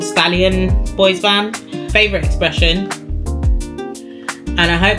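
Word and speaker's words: bois bandé: Um, but boys band it is. And I'm definitely not pronouncing that in the correct way.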